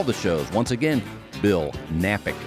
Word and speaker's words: Knapik: shows once again bill knapik radio shows that K is silent still napping checking out